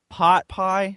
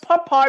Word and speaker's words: pot pie: please tell Allan that it's pronounced pot pie it's okay it's pronounced po pie because it's it is an Amish menite dish there is a giant difference between pot pie like the stuff they have KFC and popy that is like a type of soup dish it's the same differ thing big difference SP the same way but it's pronounced so differently no one pronounce my